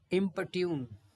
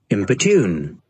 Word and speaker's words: importune: 6 देखिए इम्पट्यून, इसका प्रोनाउंसिएशन है ये पॉर है इम्पट्यून, इम्पोर्ट्यून, देखिए